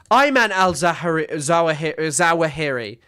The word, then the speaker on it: Ayman al-Zawahiri: I'm really concerned that I'm saying his name wrong. Oh, how am I getting this wrong? Ayman al-Zawahiri.